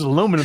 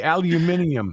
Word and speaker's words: aluminium: different planet called aluminium everybody says aluminum if you cut you're if you're in my presence and you say the word aluminium I'm backing away from you like you got like coming out of your ears I'm gonna tell Mike and GT you said that I want to hear GT say aluminium it's aluminium they're gonna be say I'm